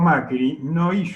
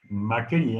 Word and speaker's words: Macri: Macri, en realidad en Calabria, tiene un acento en la I.